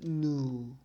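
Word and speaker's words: ν: know with subscript I this is the Greek lair Greek letter it pronounced new and I means the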